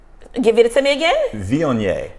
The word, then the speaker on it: Viognier: Viognier. Viognier. Viognier. Now it's spelled Viognier. Okay, but it's Viognier.